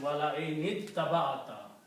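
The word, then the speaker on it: وَلَئِنِ اتَّبَعْتَ: But when you combine, then this becomes hamzatul wasl, and this will become wala in ittaba'ata. Noon will combine with the ta, that's the reason.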